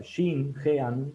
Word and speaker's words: Genet: él hace de Jean, o sea, Jean, se escribe Genet, que es un poeta